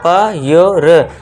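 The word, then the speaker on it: pure: आर इ तो आगे इसे क्या पढ़ेंगे आधा प यो र प्योर श योर श्योर प्योर श्योर आप इस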